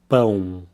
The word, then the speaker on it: pão: The word for bread, pão. Here we have the nasal sound, pão, pão.